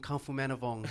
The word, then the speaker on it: Khamphomanivong: motherfucking Khamphomanivong.